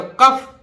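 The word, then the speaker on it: cough: बहुत गड़बड़ है भाई अगर कहीं भी ओ य जीी एच आ जाए ओ य जीी एच एक साथ आ जाए तो इससे फ बनता है तो देखिए का सी से बन गया ओय जीी से फ बन गया तो कफ कफ माने खांसी इसी तरह देखिए टा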